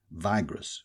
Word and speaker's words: vigorous: Cvigress or cervigous is a superlative of vigorous here pronounced vigorous with a long I as a survigous baby.